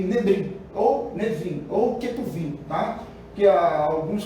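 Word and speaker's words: Nevi'im: Que alguns colocam lá, na hora que vai colocar lá, na escrita, por exemplo, coloca Nebrim, mas lê-se Nevim, tá? Outros colocam Ketubrim, mas lê-se Ketuvim. Então, é Torá, Nevim e Ketuvim, tá certo?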